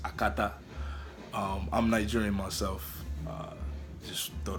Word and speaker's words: Akata: The word Akata, which is supposed to be pronounced Akata.